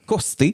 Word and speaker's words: Costé: France et à l'époque son nom va être écrit c O S t e accent aigu cé costé. Car même si l'accent circonflexe existe déjà depuis un petit bout, on l'utilise très peu et on va plutôt mettre un S après la lettre qui aurait dû avoir un accent. Donc au lieu du haut circonflexe de côté, on va mettre un S. Mais on ne prononçait pas le S.